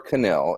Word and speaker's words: Canil: Is it Nil or Canil? Is the K pronounced? Yeah, it's Canil.